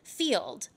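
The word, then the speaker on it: Feeld: exclusively right now, is Field. And that's spelled F-E-E-L-D, Field.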